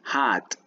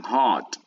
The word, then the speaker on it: hat: The pronunciation is important. It's hat. Repeat, hat. Hat. Tienes que tener cuidado porque si pronuncias mal puede sonar de otra manera la palabra y no se va a entender con corrección. Por ejemplo, hay quienes dicen hot y ahí estás diciendo otra palabra.